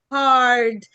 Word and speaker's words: hard: الكلمة اللي بعديها مين ينطقها لي؟ hard مش hard. هارد. الهارد بتاع الكمبيوتر لا، hard.